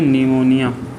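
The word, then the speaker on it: pneumonia: निमोनिया बीमारी होता है, न्यूमोनिया, इसमें इंग्लिश में लिख देते हैं। इंग्लिश में लिखेंगे तो पी साइलेंट हो जाएगा और लिखेंगे निमोनिया।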